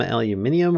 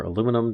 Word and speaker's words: aluminium: regular stuff this requires some aluminium or aluminum depending upon how you want to pronounce it and some glass a